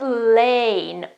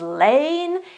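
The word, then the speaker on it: lain: Also in this case, the standard pronunciation is lane, and it is the correct one. There is also an American possibility to say lan, but just don't use it, okay? It exists, and I'm not saying it doesn't, but lane is the most common pronunciation.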